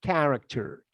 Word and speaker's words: character: repeating of ami please character character character character okay this ch is pronounced like k and the same happens